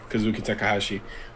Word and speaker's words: Kazuki Takahashi: takahashi um i said it right correct correct kazuki takahashi um created one of the most memorable things